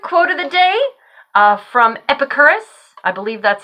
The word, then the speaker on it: Epicurus: Quick quote of the day from Epicurus. I believe that's how you pronounce his name.